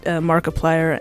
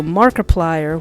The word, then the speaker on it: Markiplier: cat icarus um so markiplier when i hear markiplier's name it sounds like the word multiplier and just with mark's name in there so i was thinking